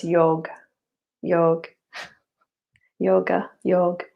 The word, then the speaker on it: yoga: stages of that and yoga yoga so actually in the in the sanskrit name that the a is silent so it's yog yog yoga yog it's kind of